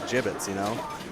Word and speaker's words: Jibbitz: Yeah, got to get the pick of the gibbets. Is that how does one spell that word? I think it's like JIBBITS. It's like a ribbit, but like a frog, but like the bullfrog.